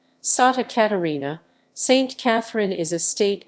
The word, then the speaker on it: Santa Catarina: santa catarina state santa catarina portuguese pronunciation sata catarina saint catherine is a